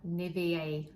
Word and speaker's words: Nivea: Nivea, I say Nivea.